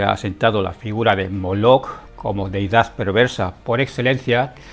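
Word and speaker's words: Molech: las lenguas semitas antiguas, la palabra traducida como Moloc, pero leída como Molec en el texto masorético, se escribe con las consonantes mem, lamed y kaf sofit.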